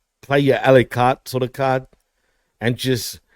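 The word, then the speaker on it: à la carte: Okay, first of all, and you're not pronouncing this correctly. A la carte.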